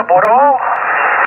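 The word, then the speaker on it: Bureau: Se pronuncia Buró, se escribe Boreau.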